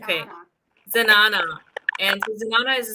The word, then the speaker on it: zenana: Zenana, is that how it's pronounced? Yeah. Zenana. Okay. Zenana.